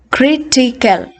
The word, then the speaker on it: critical: from the end so look at the words ending with al critical for instance so kritikel all right so you see the third syllable from the end one two three geological one two three